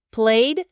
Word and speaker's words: played: Sí, mencionaron también las terminaciones del pasado simple, el famoso ed, que tiene tres pronunciaciones distintas. T, d o id, ¿cierto? Stopped, t, played, d, wanted id. Exacto. Recordaron la regla que depende del sonido final del verbo base, si es sordo, sonoro o ya teod.